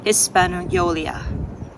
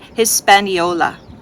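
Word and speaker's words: Hispaniola: his spolia I'm sorry is that Hispanola I think that's proper way to say it Hispanola and by the most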